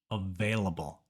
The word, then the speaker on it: available: Spanish speakers because of the V and B sounds available available in Spanish both B and V are pronounced the same but in English the letter V always makes that V sound and for B the lips always touch and make a small pop B so it's available available this video was